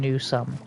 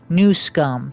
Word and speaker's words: Newsom: I don't believe for one second that Gavin Newsome Newsum, sorry, I mispronounced his name.